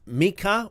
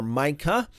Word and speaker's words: Micah: We'll start with Mika or Micah. I tend to um I tend to use both pronunciations.